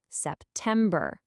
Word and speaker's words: September: It's a weak, strong, weak syllable pattern that can really help you nail the pronunciation. Just listen closely. September, October, November, December. Hear that? Da-dum-da. It's the same for all 4.